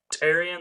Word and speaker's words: Tyrion: Tyrion. That's how you say it.